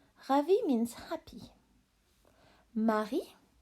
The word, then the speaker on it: Marie: Marie. Marie. Silent E. Marie is the name of a girl, like in English, Mary. Lèche.